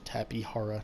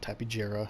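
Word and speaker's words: Tapejara: is the tapihara uh which is its uh correct pronunciation tapihara not tapijra as i've heard some people call it uh the tapihara um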